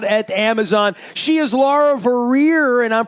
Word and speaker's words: Vorreyer: She is Laura Vorreyer, and I'm pronouncing that right. That's Vorreyer.